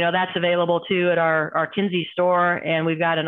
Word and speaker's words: Kinze: And you know what she did, because she's been back from her stint at Caterpillar long enough that she just kept saying Kinsey, Kinsey, Kinsey.